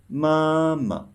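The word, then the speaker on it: 妈妈: are the same meaning have you noticed that the second ma isn't marked with any tone in this case it's called neutral tone or softer tone so you should pronounce it softly and shortly let's try again this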